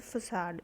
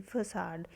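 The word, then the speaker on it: façade: It's pronunciation is फसाड, FACADE, फसाड।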